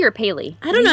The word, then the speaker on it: Pally: but Adam, is it Pally or Paley? I don't know how you're supposed to pronounce it. Let's call him Pally, because that's how it's spelled.